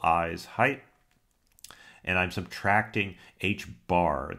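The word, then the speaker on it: h̄: And I'm subtracting h bar. That line over the h is pronounced bar in mathematics. It's like a flat hat on top of the H, and that indicates almost always an average.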